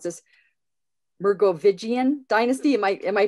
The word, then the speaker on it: Merovingian: Our speaker is a member of the order of the, okay, I'm gonna probably mispronounce this, Merovingian dynasty. Am I pronouncing that right? Merovingian.